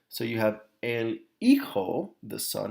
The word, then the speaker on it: hijo: So you have el hijo, the son. Remember, it's not ijo.